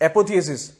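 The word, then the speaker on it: apotheosis: मैं बाद में सब कुछ समराइज कर दूंगा, एपोथियोसिस थोड़ा सा, यस, एपोथियोसिस, ऐसे आप लोग पढ़ना चाहिए।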